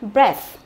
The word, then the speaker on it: breath: ta sẽ đọc là breath, đúng không? Breath. Và cái TH ở đây nó cũng là một cái âm vô thanh, được chưa? Đọc là breath.